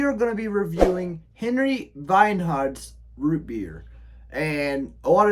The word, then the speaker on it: Henry Weinhard: Because Henry Weinhard is a German American, and so with German, you pronounce the W's as V's.